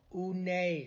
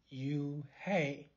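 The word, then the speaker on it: Unhei: girl asked scratching up her face oh oh oonay some kids chanted no no un hair corrected it's spelled u-n-h-e-i it's pronounced oh it's you hey the boy said like you hey what about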